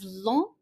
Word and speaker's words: long: So the pronunciation of the feminine is similar to how we pronounce it in English, long, but the masculine, the G, you do not pronounce it. Basically, we just pronounce LON, long, long, long.